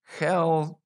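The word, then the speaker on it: Chelčický: His name was Peter Helchiksi.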